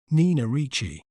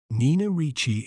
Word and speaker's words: Nina Ricci: word to better understand its pronunciation we may pronounce it as Nichi n Richi n r Chi Nina Richi Nina Richi is celebrated for its iconic pieces such as